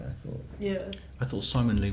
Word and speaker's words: Ximon Lee: I thought Simon Lee was great, who's a young designer from New York, and he did a little presentation. Don't think we have pictures of it. It's spelled Ximon Lee.